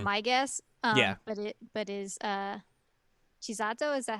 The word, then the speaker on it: Chisato: But is Chisato, is that how you pronounce it?